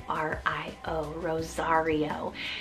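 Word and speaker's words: Rozario: a king third to last name we have Rosario spelled r-o-z-a-r-i-o Rosario this is a really cool kind of name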